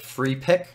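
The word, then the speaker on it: Freepik: But if you go to the actual websites, there's places like FreePick, which is spelled with a K, at P-I-K.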